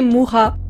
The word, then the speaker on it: Mucha: désamorcer tout de suite je sais que c'est censé se prononcer Moura mais je ne fais pas désolé du coup pour